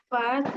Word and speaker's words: fait: gentil then হুম il fait না এল ফে des, এটা কি হবে এল il ফে fait, লাস্টে টি সাইলেন্ট ওকে il fait des